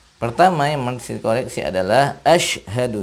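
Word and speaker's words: أشهد: yang mengisi Koleksi adalah Asyhadu yang mesti kita perhatikan Sin Asyhadu Sin sukun bukan ashaddu bukan Sin tapi Shin asyhadu alla nah ini ada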